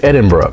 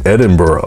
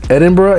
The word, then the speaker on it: Edinburgh: capital and they don't like it when foreigners pronounce it edinboro seriously it's a thing the total area of